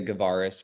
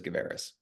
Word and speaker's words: Gavaris: my last name there's I think a lot of people say gavaris but my family says GIS well I I'm I'm